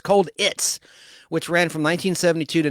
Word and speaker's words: Colditz: McCallum starred in the critically acclaimed BBC Universal television series Colditz, which is spelled cold like Cold War, ITZ. Cold It's, like a Ritz cracker. Cold Ritz, Cold It's, which ran from 1972